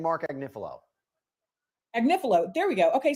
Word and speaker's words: Agnifilo: I think right now, how do I pronounce his name? Is it We've been saying Mark Agnifilo.